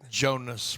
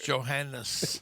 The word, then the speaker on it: Jonas: Say it right. Jonas brothers. See, But for the longest, I thought it was Johannes.